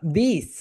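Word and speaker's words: this: এই দুইটা যখন আমরা উচ্চারণ করব তখন আমাদের দুইটা দাঁত রয়েছে, রাইট, উপরের সারি এবং নিচের সারি। দুইটা দাঁতের এরকম মাঝখানে আমাদের জিহ্বাটা যাবে।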